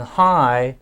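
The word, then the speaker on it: high: world has or and hi is one of those words with the silent g h i g h the g does not make a sound and that takes us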